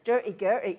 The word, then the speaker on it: Durty Gurty: Durty Gurty.